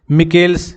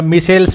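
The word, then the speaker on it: Michels: यह पुस्तक लिखी है मिल्स या मिसेल्स भी बोलते हैं। मिसेल्स अंग्रेजी में स्पेलिंग हो गई एम आई एस सी एच ई एल एस। इसको मिल्स बोल लो चाहे मिसेल्स बोल लो। एक ही बात है।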